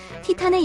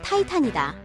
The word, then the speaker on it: 티탄: 티탄의 영어식 발음은 타이탄이다.